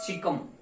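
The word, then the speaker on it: caecum: सीकम spelling पे मत जाना, सिर्फ चीजों को समझने की कोशिश करना, ठीक है।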